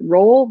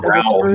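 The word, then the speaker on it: rowel: that gets you thinking about the is it roll? Is that how you say it? Rowl, yeah. Rowl, okay, the rowl of a spur.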